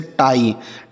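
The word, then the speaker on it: tie: टी आई ई। तो टी से पढ़ते हैं आपका ट और किसी भी शब्द के लास्ट में अगर आई ई लिखा हो तो उसे हम आई पढ़ते हैं। क्या पढ़ते हैं? आई। जैसे टाई।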